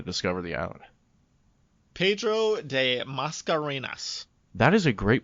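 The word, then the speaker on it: Mascarenhas: i i struggled with that i was hoping you'd you know you'd care it's almost like macarena but you just got an extra yes yes oh that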